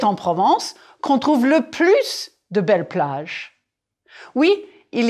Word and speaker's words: plus: number le plus de prononcer le plus de oui on entend le S le moins de av